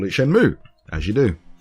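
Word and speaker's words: Shenmue: time events before shenmu Shen mua Shen mua is it mhm Shen mua that's the correct pronunciation okay I don't even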